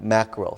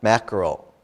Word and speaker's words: mackerel: okay it's a difficult word for japanese to pronounce macaroni yeah mackerel so again if you're not sure practice mackerel macro yeah it's m-a-c-k-e-r-e-l and we don't we